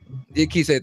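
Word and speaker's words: Diakiese: Dan Hooker against Mark Diakise. I always forget how to say his last name. Diakise, thank you.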